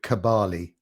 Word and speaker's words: Kabale: by the location uh a town called kabali i think that's how it's pronounced k-a-b-a-l-e in uganda you can do a